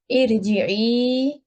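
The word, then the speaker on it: ارجعي: So here how we should pronounce it, i'lamu, and here the kasra example, irji'i.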